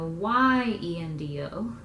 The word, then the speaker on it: yendo: So instead of I-E-N-D-O, it's going to be a Y-E-N-D-O, but really the pronunciation is still the same, yendo, okay?